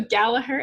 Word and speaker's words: Gallaher: So Gallaher Edge.